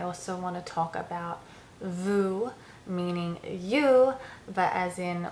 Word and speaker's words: vous: want to talk about Vu meaning you but as in multiple plural people so Vu um one quick way I remember is obviously it also rhymes with the English word u um and Vu uh